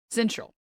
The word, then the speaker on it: syncytial: Syncytial. All right. No C, no hard C there.